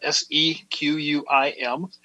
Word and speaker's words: Sequim: It's spelled Sequim.